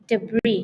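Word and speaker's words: debris: tapi debre apa debre debre debr gitu ya debre debr jadi debr itu sampah eh s-nya enggak dibaca sering kan kata-kata Inggris kayak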